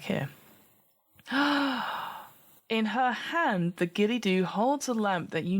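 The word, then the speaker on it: Ghillie Dhu: a strange Moss fairy is that how you pronounce that a gilly dooo Gilly dooo yeah that's how it's pronounced a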